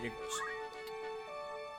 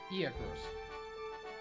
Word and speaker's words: Igros: Because remember, we can restock when we get to Igros. Interesting note. They totally mispronounced and misspelled that one as well. Igros, Igros, Iagros. Igros.